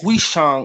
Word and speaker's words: Fusang: the buddhist missions and it's called fusang pronounced huixong in the original the fusang a place